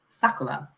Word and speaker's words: Sakura: But Japanese pronounce their R's as L's. So actually, the real pronunciation is Sakura.